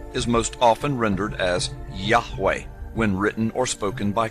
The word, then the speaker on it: Yahweh: most often rendered as Yahweh when written or spoken by Christians and others. It is still never pronounced aloud by Orthodox Jews. The pronunciation Jehovah is an older, less accurate rendition of these letters.